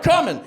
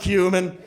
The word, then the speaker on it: cumin: "Hey, look at this big-ass jar of 'come-in.'" I expected him to, you know, worst-case, be like, "Shut up. It's pronounced cumin."